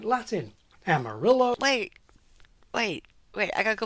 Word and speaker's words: Amarillo: sound like Spanish Ah that's because Amarillo is actually supposed to be pronounced Amarillo I'm sorry if I